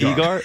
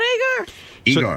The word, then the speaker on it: Egar: yes who even know is it eagar is it really for real yeah for real I'm not it's not agar so that name is